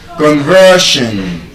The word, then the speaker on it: conversion: Conversion.